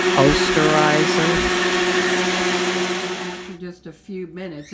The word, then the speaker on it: Osterizer: We're going to do it, it's on a frappe setting, which is the highest setting of this ancient oysterizer blender that I have. I think that's actually pronounced Osterizer.